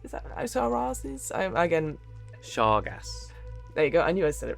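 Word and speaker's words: Shargaas: And a god here, the orcish god of stealth, Sharizis? Is that Sharazis? Again, Shargas.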